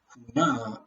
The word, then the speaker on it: Huna: Huna is, when it's pronounced that way, means to hide, to conceal, to disguise.